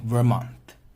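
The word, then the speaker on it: vermouth: have is a dry Vermont Vermont so the pronunciation of this is so ver mon one more clear as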